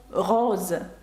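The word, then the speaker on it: rose: літера дає звук з наприклад слово роз рожевий ну чи роза роз ви бачите о та наприкінці це голосні і через це літера с читається як з з таке слово як візаж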